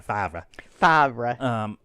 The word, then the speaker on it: Favreau: And Jon Favreau, because I can't say his name any other way, Jon Favreau. Not Favre.